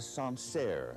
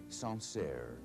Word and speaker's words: Sancerre: Here's a Sancerre from the Loire Valley, Sancerre.